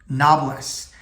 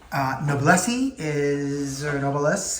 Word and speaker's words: Noblesse: And I'm going to talk about a Montblanc Noblesse. Noblesse is how my European wife pronounces it. But I call it a Noblesse. That's how I've heard a majority of English-speaking people speak about that pen.